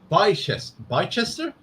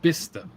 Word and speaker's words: Bicester: Alex says, Marcus, Bicester? No, it's Bister.